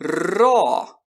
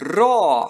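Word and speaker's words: ρῶ: Se eu não sair basta pronunciá-lo como nosso RNA palavra era mas jamais como nosso R nas palavras Rei erro e vamos tentar Oi Rô Oi Rô é muito bem se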